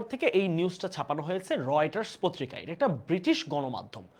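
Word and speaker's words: Reuters: আচ্ছা আমরা জোহানেসবার্গ ওকে রয়েটারস এই উচ্চারণটা কিন্তু রিউটার উচ্চারণ কি হবে রয়েটারস রয়েটারস ধরা হচ্ছে আন্তর্জাতিক একটা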